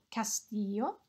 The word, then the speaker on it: castillo: Remember our double L is a y sound. Un castillo.